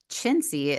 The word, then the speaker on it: Cinzia: So I had, Cinzia is how you pronounce her name. It looks like Cinzia, but she's from Italy.